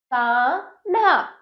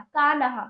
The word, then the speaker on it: कान्हा: कना कानहा हो जाता कानहा गलत है हमें कान्हा बोलना चाहिए था कान्हा यहां पर कान्हा का उच्चारण शुद्ध है तो आद ना इसलिए